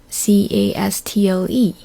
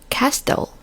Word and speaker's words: castle: So I read it loud, castle. But my friend said, no, it's castle. And I argued with him. I thought he was wrong. And he said, no, T is silent.